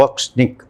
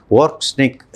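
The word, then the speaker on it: Орешник: ഈ ഏറ്റവും പുതിയ ആയുധമായിട്ടുള്ള ഓർഷിങ് ഓക്നിക് എന്ന് പറയുന്ന ഉപകരണം കൊണ്ടുതന്നെ ഓക്സ്നിക് എന്നാണ് റഷ്യൻ ഉച്ചാരണം ഓർക്സ്നിക് എന്ന് തന്നെയാണ് അതുകൊണ്ടുതന്നെ അത് ഇല്ലാതായിട്ടുണ്ട് ഇത് വളരെ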